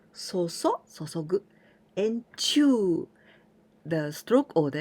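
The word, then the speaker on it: 注ぐ: We pronounce 注ぐ and chew.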